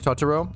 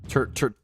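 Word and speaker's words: Turturro: stay up unreasonably late, but for sure it's Tutaro. Oh, is it? Actually, I love him, so I do want to say his name correctly. Can I get like a pronunciation on his Turo? Terturo.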